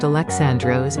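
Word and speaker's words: Αλέξανδρος: Alexander is pronounced Alexandros in Greek and means protector of mankind or protector of the people.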